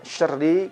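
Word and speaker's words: شَرِّ: Huruf ro pada kalimat syarri kita baca tipis. Tidak kita tebalkan.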